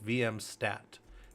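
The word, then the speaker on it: vmstat: If my system is saying it wrong, I apologize down here, but it's VM stat.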